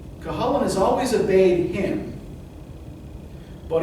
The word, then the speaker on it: Cuchulainn: Trust me, it's pronounced Cuchulainn.